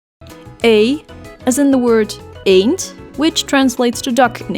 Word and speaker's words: Eend: is in the word a't which translates to duck in English and sounds exactly the same as the English letter A ain't I as in